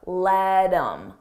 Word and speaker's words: let him: Notice again, I take that H off of him, I drop the sound, and then I'm left with im, but I combine it with the word before. Let him, let him, let him.